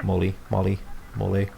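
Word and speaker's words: MOLLE: So yeah, Molly, I think is how it should be pronounced. Mole is like a sauce or something.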